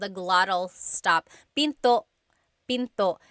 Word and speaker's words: pinto: Tagalog is p and remember don't forget the glot stop don't forget to stop the sound at the end that's called a gladle stop Pinto Pinto it's not Pinto